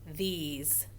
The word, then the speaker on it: these: Here's one that does it with the magic E, the silent E on the end. So we have th, e's, these.